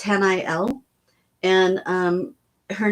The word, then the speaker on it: Haniel: and as I say her name is h n i e l and it's Han L and um her name